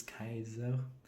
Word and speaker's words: Caesar: For example, some people love if Julius Caesar is for example a woman or how we pronounce it in Latin, Julius Kaiser.